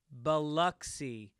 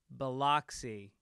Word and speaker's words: Biloxi: Biloxi, Mississippi is pronounced Biloxi rather than Biloxi.